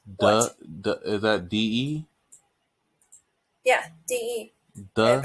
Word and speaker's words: 的: Yeah, DE. The Pronounced as yeah.